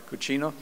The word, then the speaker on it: Coutinho: Coutinho.